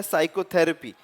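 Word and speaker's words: psychotherapy: साइकोथेरेपी, इट इज एस, साइकोथेरेपी।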